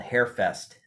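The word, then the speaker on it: Hare Fest: july at what's called hair fest uh it sounds like fun but it's spelled like the rabbit okay okay gotcha bar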